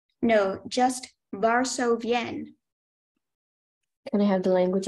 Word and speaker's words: Varsovienne: Are there any alternate pronunciations? No, just Varsovienne.